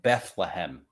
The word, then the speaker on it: Bethlehem: paper that's not right it's not bethlehem bethlehem yeah it's bethlehem there's three syllables in that jesus so i make